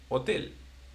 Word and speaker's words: hotel: for example, in English, there will be hotel. Okay? Yeah. But in Spanish it's just hotel. Hotel. Da. So it's like the H doesn't even exist.